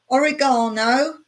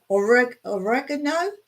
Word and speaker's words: oregano: I think most people know basil, oregano, or Americans say it different. Oregano. Is that how Americans say it? We say oregano.